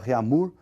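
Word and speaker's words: Réaumur: que a escala reunir que nós vamos pronunciar reamur aqui aportuguesado de novo e essa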